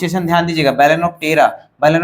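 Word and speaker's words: Balaenoptera: next है बेलन ऑफ टेरा बेलन ऑफ टेरा प्रोनाउंस एशन ध्यान दीजिएगा बेलेन ऑ टेरा बेलेन ऑ टेरा को ब्लू बेल बोलते हैं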